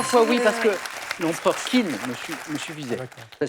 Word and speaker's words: Qin: Ah, mais je dis 3 fois oui parce que l'empereur Qin me suffisait. D'accord. Ça s'écrit Q-I-N.